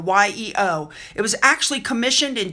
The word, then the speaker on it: Yeo: painted by artist Jonathan I think you pronounce it yo Yeo it was actually commissioned